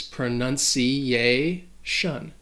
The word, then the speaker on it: pronunciation: pronunciation rule is that when a word ends with the tion the stress is going to fall on the syllable before so in this case pronunciation pronunciation pronunciation wow that